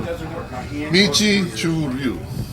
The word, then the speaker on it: Uechi Ryu: Uechi Ryu. It's Chinese pronunciation.